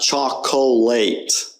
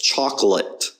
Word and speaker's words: chocolate: to practice chocolate okay it's not choc colate that's not how you pronounce in the word it's chocolate the O there is just kind of unstressed it's an a chocolate the' often times